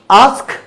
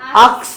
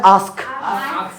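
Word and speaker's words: ask: আস্ক হবে এটা, আক্স না, অনেকে ভুল করে কি বলে, আক্স বলে, কিন্তু এটা হবে আস্ক, আস্ক।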